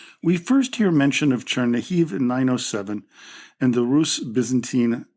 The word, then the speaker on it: Chernihiv: Our first stop is Chernihiv, a city that is in the northwestern part of Ukraine. It was previously known by its Russified name of Chernigov, but we will use its Ukrainian pronunciation.